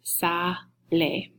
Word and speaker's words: sale: shear he goes out then the word is Saleh okay so take note of that and how we pronounce it in Spanish it's not sale it's Saleh okay the past tense